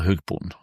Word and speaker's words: hogboon: But again, we've talked about the Hugboon, or how do you pronounce it again? Hogboy. Hogboon.